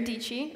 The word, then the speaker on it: Dietschy: My name is Sara Dietschy, rhymes with peachy.